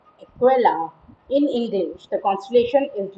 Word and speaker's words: Aquila: sagittarius scotland and corda the constellation name equella is pronounced equella in english the constellation